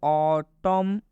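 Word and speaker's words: autumn: Example में लिखा है ऑटम, एन साइलेंट होता है, ऑटम पढ़ेंगे।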